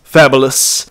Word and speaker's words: Fabulous: That really is his name, Fabulous, but it's pronounced Fabulous.